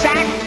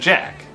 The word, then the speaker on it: Zach: Or was it Jack? Zach, he's a Lego maniac. Wait a minute, is it Jack or Zach? Here it's spelled Zach, but in this commercial you definitely hear a J.